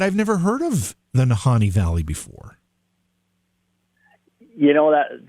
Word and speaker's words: Nahanni: even pronouncing this correctly is it nahani valley yes nahani yeah yeah i i mess it up too sometimes that but yeah i always try to think like han solo so honey you got